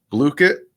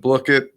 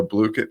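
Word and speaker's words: Blooket: we found it's called blue kit i always said block it but i was uh i was corrected on the pronunciation of it so we're going to go blue kit here um and this is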